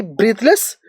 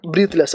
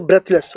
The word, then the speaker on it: breathless: When we pronounce breathe, we pronounce uh we pronounce breathe when it is a verb. But but we pronounce breath when it is a noun. So it is a breathless.